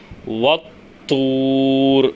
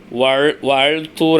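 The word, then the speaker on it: والطور: எப்படிதான் நம்ம படிப்போம் வத்தூர் அப்படிதான் படிப்போம் எப்படிதான் படிப்போம் வத்தூர் வல்தூர் அப்படின்னு படிப்போமா இல்ல வல்தூர் அப்படின்னு படிப்போமா படிக்க மாட்டோம் எப்படிதான் படிப்போம் வூர் இங்க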